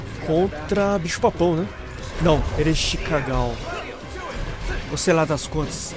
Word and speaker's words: Ereshkigal: Não, Ereshkigal. Ou sei lá das contas. É esse seu nome, né? É. Quer dizer, talvez esteja pronunciando incorretamente. Ereshkigal, é isso? É, tava falando errado. É Ereshkigal. É esse o nome.